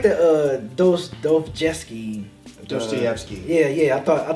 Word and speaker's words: Dostoevsky: yeah even though I love laptop but he mispronounced is his name yeah but it's Dostoevsky they like how dirty is that damn be